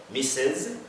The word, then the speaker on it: Mrs.: in the context of titles so say mistress so on soft back will say missus and so on so that's that now madam